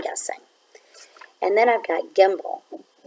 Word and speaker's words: gimble: and then I've got gimble gimble rhymes with the word that I know from nursery rhyme when I was growing up Jack be nimble Jack be quick Jack